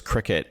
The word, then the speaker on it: Cricut: Yeah, let's start with the Cricut Joy Xtra and everything bundle.